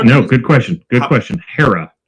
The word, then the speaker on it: Haara: But when someone asks me how to say it, I say Haara.